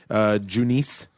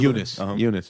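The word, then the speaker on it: Junis: the kid that almost threw the no-hitter yesterday, Junice. Junice? How do you say his name? Eunice, I do. Eunice.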